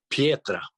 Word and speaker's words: Pietra: Pietra.